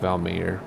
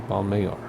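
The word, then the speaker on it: Valmayor: de vame banyor bamayor it's not valmer because it's spanish right pantano no the accent is always second to last syllable unless there's a mark so it's bombay or right a large reservoir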